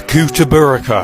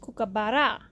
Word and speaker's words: kookaburra: to australia part 43 the coup to burka bringing up to seven the what now that's pronounced kookaburra freaked me that's the